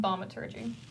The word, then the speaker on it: Thaumaturgy: How do I pronounce this again? Thaumaturgy.